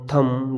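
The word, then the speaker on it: thumb: अगर एम के बाद में आपको कहीं पर बी दिखे तो वहाँ पर बी का उच्चारण नहीं करेंगे। यहाँ देखो कॉम, बॉम, थम, डम, ये हमने देखे 2-3 एग्जाम्पल से।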